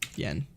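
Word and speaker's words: 円: or a circular and yen is N and is en and n is the onion we're eating next one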